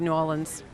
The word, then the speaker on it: New Orleans: going to bring to New Orleans that's how I say it now I know it's yeah two syllables and a little bit